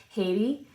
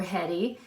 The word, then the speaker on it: Hedy: her first name is Haiti or Hedy American pronunciation is Hedy if you go to the UK is Haiti but h-e-d-y and it